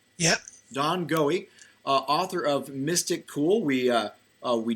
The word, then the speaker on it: Goewey: Well, we've been speaking with Don Goewey. Now, am I pronouncing your last name right? Yep. Don Goewey, author of Mystic Cool.